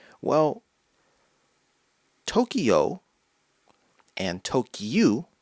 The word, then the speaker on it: Tokyu: 9, which is gyu, Tokyu. So you see, the numbers 10 and 9, if read in Japanese, sound like the name of the capital, Tokyo. Tokyu, Tokyo.